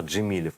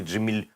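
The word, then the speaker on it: Джемілєв: Никакой не Джемильов через мягкий знак с О.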